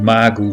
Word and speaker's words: Mago: Ik moet niet Mago zeggen, ik moet Mago zeggen natuurlijk. Het moet zelfs in het Portugees uitgesproken worden.